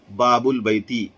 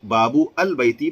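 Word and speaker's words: باب البيت: آگے دیکھیے، اس وقت ال کا حمزہ جسے حمزۃ الوصل کہتے ہیں تلفظ سے ساقط ہو جائے گا. جیسے باب البیتی، گھر کا دروازہ، یہاں بابو البیتی پڑھنا غلط ہے.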